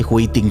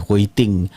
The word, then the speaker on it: Hui Ting: Jadi Hui Ting antaranya yang berkongsilah pelajar-pelajar yang lain, Hui Ting. Okey. Hui Ting, ejaan dia H-U-I, Hui T-I-N-G. Dua perkataan berbeza, Hui Ting. Dia macam perkataan Korea, Hui Ting.